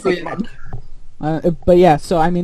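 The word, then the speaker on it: MUCC: And then I've always heard it pronounced Muku, M-U-C-C. Yeah, Mark. I think it's Muku.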